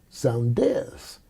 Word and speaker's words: Saunders: France in 65, and the Frenchmen didn't pronounce my name Saunders like we do, but they pronounced their names with the same thing on the end, Saunders, which is almost like a Z sound on the end.